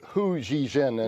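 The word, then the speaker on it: Hu Xijin: His name's Hu Zhijin, and it's spelled Xijin.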